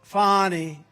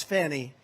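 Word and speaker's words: Fani: And he said that the persecution in Georgia by Fonnie Willis. You know about Fonnie Willis, right? Has anybody Fonnie? It's pronounced Fonnie. F A N I. That's Fanny. But she likes it.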